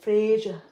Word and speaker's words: Fraser: say it though because they don't say Fraser they say frasia get him some proper